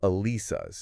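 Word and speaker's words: Alesis: And that's pronounced Alisas. Alisas, yes.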